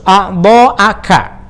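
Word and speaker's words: أعضاءَ: Wa khususon, dan secara khusus a'dha'aka. Nah, ini dibacanya a'dha'a ya, karena ini badal dari jami'a.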